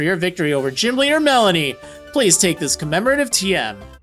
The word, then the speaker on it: Melony: Jim winter melon Melanie keep saying melody its Melanie this is spelled interestingly I just want to